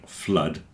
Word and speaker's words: flood: that everyone mispronounces like blood and flood rhyme with mud a lot of people think it must be blued cuz it's like food but it's not like food it's like mud so there's a section